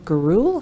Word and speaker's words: Gurule: All right, we are going to go to invited testimony from Gurule. Hopefully I'm pronouncing your name correctly, with the FACT Coalition.